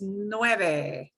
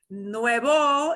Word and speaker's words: nueve: that word nine nueve it's important that you pronounce it as nueve nuevo it means new like brand new so always make sure if you mean nine the number you don't mean new something you just bought so that number nine is